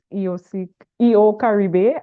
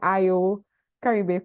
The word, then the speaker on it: EO Caribe: And first of all, let me just say that today I finally learned how to pronounce EO Caribe. I've been saying IO Caribe for the longest while.